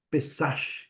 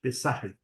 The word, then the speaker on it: Pesach: que a palavra Páscoa também ela tem a origem no hebraico, que é Pesach, Pesach. Eu tenho talvez judeus aqui ou de origem judaica que possam talvez melhorar a pronúncia, Pesach, que significa passagem, exatamente.